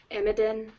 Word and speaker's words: Emidin: And I think this one is pronounced Imidin. Yeah. Is it Emidin or Yemidin? Emidin.